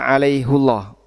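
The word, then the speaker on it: عليهُ الله: Nah, ada beberapa alasan kenapa ini dibaca alaihullah. Pertama, jadi di surat Al-Fath ayat berapa tadi? 10. Itu bacanya alaihullah. Kalau dibaca hi harusnya gimana bunyinya? Alaihillah. Alaihillah. Kalau dibaca alaihullah ini tafhim sehingga Allah-nya jadi tebal.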